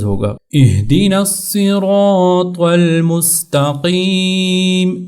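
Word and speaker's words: اهدنا: طور سے تلفظ ہوگا، اہدنا الصراط المستقیم۔ اسی طرح یہاں پر اس ہا کو اپنے اہدی، بعض لوگ اس کو اخدی وہ نقطے والا خا پڑھ لیتے ہیں، تو اہدی اس کو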